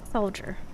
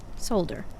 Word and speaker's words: solder: I can hear it in my head, but I cannot get it out of my soldier. No, solder.